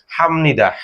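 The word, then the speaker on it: 합니다: ম এর মত হবে তাহলে এখানে দেখুন হিতা হা নিচে বিয় হাফ ননি দদা তাহলে বিয়রপের উচ্চারণ কি হবে ম তাহলে কি হবে হাফ নিদার জায়গায় কি হবে? হামনিদা।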